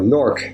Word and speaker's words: Newark: never never mind Newark or norc as it's pronounced in the dialect the early 1900s the